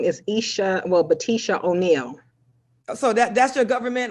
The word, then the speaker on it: Batisha: legal name my legal name is isha well batisha o'neil so that's your government license yeah one more time batisha batisha spell that for me b-a-t-i-s-h-a yeah so isha is